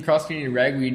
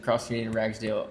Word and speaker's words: Cross Canadian Ragweed: That reminds me of when we were seeing Cross Canadian Ragweed and they mispronounced it. Said Cross Canadian Ragsdale in front of 50,000 people.